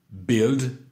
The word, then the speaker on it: build: Build, built, built. On ne prononce pas le U.